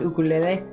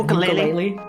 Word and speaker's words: ukulele: We got like a cheap ukulele and it turns out the pronunciation is ukulele instead of ukulele.